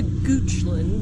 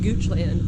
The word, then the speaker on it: Goochland: So this place is close to Goochland. Mm-hmm. I kept calling it Goochland, but apparently Goochland, Virginia is how you say that.